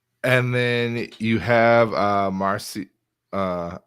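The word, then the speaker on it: Marasi: then you have uh marcy uh am i pronouncing it wrong morrissey is how you pronounce mark marcy yes who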